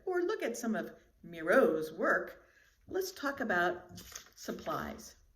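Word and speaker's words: Miró: And his last name is Miro with an accent on the O. So that means that's like a long O and very sharp. Miro.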